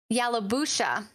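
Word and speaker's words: Yalobusha: east here this is for parts of chickasaw yellow yellow busha again apologize for mispronunciation calhoun county pantatalk county and monroe county i'm waiting for cory's great with the yalubusha county han to talk county thank you corey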